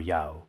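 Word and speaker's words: 乐: The character le can be pronounced as yue or yao. Both are acceptable.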